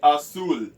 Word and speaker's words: azul: In Filipino, in Filipaiian, you say música, spelled with M-U-S-I-K-A. Next, you say azul, azul, azul.